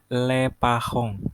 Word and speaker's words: les parents: Orang tua itu bahasa Prancisnya les parents, les parents, parents, parents, les parents. Kalau bahasa Inggrisnya kan parents. Tulisannya kurang lebih sama sih, tapi bahasanya parents.